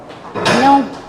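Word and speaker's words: know: we pronounce it no, but the word starts from the K. K is a silent word. So this is a K silent word. Now here are words in your spelling number 1.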